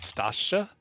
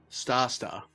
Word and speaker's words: Stasta: How do you pronounce that? Stasha? Stasta.